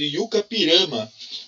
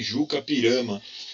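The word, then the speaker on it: I-Juca-Pirama: E para isso o primeiro exercício traz um poema épico escrito por ele chamado Yucapirama, né? Também pronunciado aí Jucapirama, tá bom?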